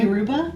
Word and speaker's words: Yoruba: Did you say that's how that is pronounced, Hannah? Yoruba?